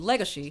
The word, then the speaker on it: Legosi: and for those wondering why I'm not pronouncing it legosi that's because legosi is not just the conu romanization of his actual name Legacy but it also references the Hungarian American actor Bella Lugosi another fun note about